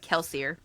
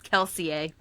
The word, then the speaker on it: Kelsier: Oh, by the way, his name's not Kelsier. It's Kelseier. that. It's Kelsier. The French inspired way.